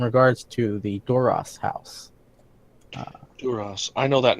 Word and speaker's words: Duras: Duras. Oh, that might be why they're No, out. no, so you got the pronunciation wrong. You got to kind of really bug the eyes out as you say it.